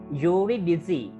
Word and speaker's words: Eurydice: Right, මේ වචන දෙක pronounce වෙන්නේ Orpheus and Eurydice.